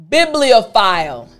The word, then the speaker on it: bibliophile: Notice the PH. Now, this PH actually has an F sound. So in order to pronounce this part of the word properly, what you need to do is you need to make sure your front teeth are on top of your bottom lip.